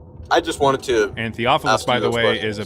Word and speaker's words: Theophilus: So I'm pretty sure you were saying like Theodicus or whatever his name is wrote, Mark or something like that.